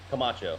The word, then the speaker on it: Camacho: own page uh how do you say your last name camacho camacho's a website it